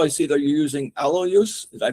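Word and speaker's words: allulose: And now also, I see that you're using alo use. Did I pronounce that right? Yes. Yeah. One of my sweeteners is alulose as well as monk fruit.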